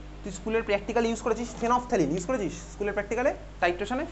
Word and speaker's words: phenolphthalein: অফ ফেনফথ্যালিন, ঠিক আছে, ফেনফথ্যালিন হচ্ছে প্রোনাউন্সিয়েশনটা, ফেনলফথ্যালিন বলে না, ফেনফথ্যালিন।